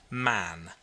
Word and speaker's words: Mahon: He had a Roman nose, a snow white long beard, and his name was Mahon, but he insisted that it should be pronounced man.